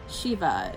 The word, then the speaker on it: Shiva: so that part is ruled by siva shiva you might be more familiar with it and when i pronounce it